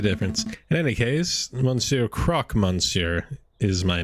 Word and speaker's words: croque monsieur: You are the croquet monsieur, are you not? That's croque monsieur to you. Mon Dieu, people always get the pronunciation wrong.